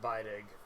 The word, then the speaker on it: Beidig: getting something notarized, and she made it clear that it's pronounced Beidig, and her family farm is further down the road.